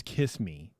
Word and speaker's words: Kissimmee: rent a house in Kissimmee. Is that how you say it? And I think just drive in. I think it's Kiss Me.